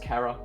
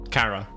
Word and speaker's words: Chara: It's pronounced Kara, because it's short for character.